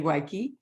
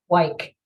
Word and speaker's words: Wike: with the amazing weiki hi am I mispronouncing your name wike wike just like it sounds like just like it sounds